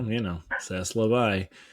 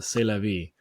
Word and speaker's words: c'est la vie: They tried to correct me because I said, well, Saslavai, and they said, oh no, it's a c'est la vie.